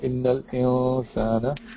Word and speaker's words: إن الإنسان: Yeah, but except you don't pronounce the noon for the insan. You say innal insana.